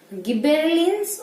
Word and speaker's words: gibberellin: Okay beta, so the second hormone that is gibberellins, or you can say gibberellin, whatever you want to tell you can, ठीक है।